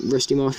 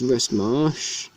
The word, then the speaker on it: Rust Marsh: I think I said, like, Rusty Marsh or something, but no, it's Rust Marsh.